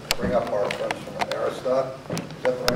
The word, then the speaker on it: Arista: So without any further ado, I'd like to bring up our friends from Arista. Is that the right way to pronounce it? Arista. Arista.